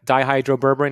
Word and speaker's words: dihydroberberine: sugar regulation, but anti-aging is the berberine, the dihydroberberine.